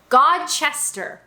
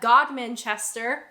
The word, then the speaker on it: Godmanchester: Godmanchester, actually pronounced the way that it looks.